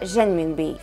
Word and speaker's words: Renminbi: Второе же название — это Renminbi. В переводе — народные деньги. Произносится по-разному. Помним, я не преподаю путунхуа. Иногда первый звук ближе к Ж, иногда к английскому R.